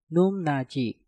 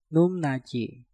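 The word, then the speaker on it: 높낮이: Num diakhiri dengan piup, setelah itu diikuti kata nat yang diawali dengan nieun. Nah, maka piupnya kita rubah menjadi suara mieum. Untuk kata ini menjadi numnaji, numnaji, numnaji, numnaji.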